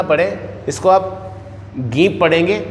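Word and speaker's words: ङीप्: तीसरा है गीप, ये जो है ये इसको डीप ना पढ़ें, ये अंग की बिंदी लगी हुई है तो नाक से उच्चारण होगा तो इसको पढ़ेंगे गीप। ग है गीप, ऐसा पढ़ेंगे, इसको डीप नहीं पढ़ेंगे, इसको गीप पढ़ेंगे।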